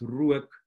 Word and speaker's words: rook: a short o, but the word for smoke doesn't have a long o, it's rook. So it has this oe diphthong.